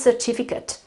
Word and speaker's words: certificate: And then I've got this apostrophe here that shows that the vowel on which I have to put the accent is the I, okay?